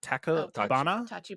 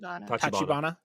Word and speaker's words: Tachibana: Is it, how do you pronounce the Takabana? Tachibana. Okay.